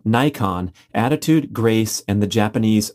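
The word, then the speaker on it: naikan: wrote a book called nikon that's a japanese word sounds like the camera but it's spelled n-a-i-k-a-n the book is called nikon attitude grace and the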